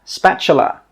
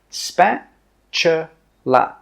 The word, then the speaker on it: spatula: This is a 'spatula'. Spatula. Spatula. The T sound is actually pronounced as a CH sound. Spa chu la.